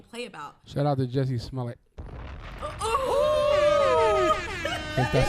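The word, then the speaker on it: Jussie Smollett: Shout out to Jesse Smollett.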